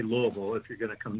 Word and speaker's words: Louisville: you got to say Louisville if you're going to come down here you don't say Louisville or anything strange like that you got to say it like the locals do Louisville and uh and there